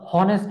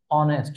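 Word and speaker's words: honest: তো আর অনেস্ট ম্যান উচ্চারণ তো আর হনেস্ট ম্যান না উচ্চারণ হচ্ছে অনেস্ট ম্যান অনেস্ট অর অর মতো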